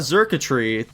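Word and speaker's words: Xurkitree: Yeah, it's like circuitry.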